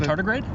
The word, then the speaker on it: tardigrade: my new friend pet here which I cannot pronounce the name of this how do you say it but you pet yes the tardigrade Thank You tardigrade it's a good word I'm